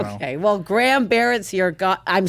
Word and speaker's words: Barrett: Barrett, I'm saying it correctly?